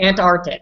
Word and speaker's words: Antarctic: yeah it's an insect Antarctic so that's what I use aunt and then our tick Miguel any problems with